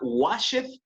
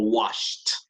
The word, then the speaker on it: washed: ¿Se pronunciará washeth o washed? Washed. Yes, that's right.